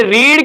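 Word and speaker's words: read: सर ये रीड की जगह पे रीड आ गया, रीड नहीं बेटा, रेड है। वर्ब की तीसरी form, spell same but pronunciation is different. ये रीड नहीं पढ़ा जाता है बल्कि रेड है, और the story is रेड बाई यू।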